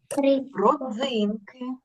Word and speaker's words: родзинки: ласка ще раз Хочу давайте прочитаємо складні слова і наголос щоб ви потім правильно читали Різдво Різдво родзинки родзинки віддвяного Дідух Дідух